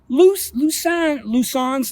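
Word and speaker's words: Lauzun: they lusek lucius legend luzon's legion it's pronounced luzon it's a french word it's a french colonel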